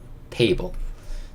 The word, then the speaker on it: table: 근데 뒤에 같이 e를 하려고 봤더니 얘가 묵음이네. e를 할 게 없습니다. 그래서 한 번만 table 이렇게 읽을 수 있고, table이라는 건 탁자.